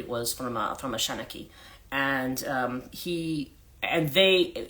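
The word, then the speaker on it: seanchaí: and there was a uh um I he pronounced it sheni sometimes an Ireland it's shinaki that they pronounce it but basically that is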